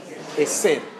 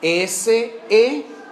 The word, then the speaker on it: Hesed: Hesed. ¿Cómo se escribe? Hesed.